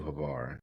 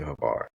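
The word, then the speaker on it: Hvar: if you can this summer take her to havar take her to split in Croatia if you can make the trip you should definitely take her to havar I I I promise you she will how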